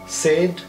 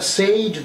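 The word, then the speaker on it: said: 4-5টা word আছে ইংরেজিতে যার উচ্চারণ এরকম হয়, এনি, মেনি, টেম্পস, সেড, সে, এটসেট্রা। এটা সেইড নয়, সেট।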